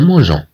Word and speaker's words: mangeons: غنزيدو E فقط حتى تنطق هاد G كG ولا تنطق كG.